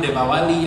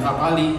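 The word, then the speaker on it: Deepavali: Ya, pronunciasinya beda-beda ternyata, Pak. Ada yang menyebut Depawali, ada yang menyebut Devapali, betul ya?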